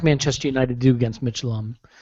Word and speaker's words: Midtjylland: Midtjylland. They're Danish. Ah, there you go. Midtjylland.